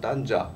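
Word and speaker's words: طنجة: 보시다시피 지금 뭐 전공자 선생님들 다 해당 전공자들 다 오셨는데, 예, 아 뭐 딴자, 뭐 아랍은 또 뭐 한글 표기법에 의해서 탄자로 써야 된답니다. 딴자가 더 맞는 발음인데, 그리고 스페인어는 탕헤르, 영어는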